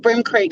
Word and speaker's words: Bream Creek: tassie again with me do you think brim creek sounds posh most people call it bring because it's spelt like the fish like bre am but it's